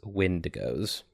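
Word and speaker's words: Windigo: uh spelled with an e, but I do believe that canonically it is wind goes.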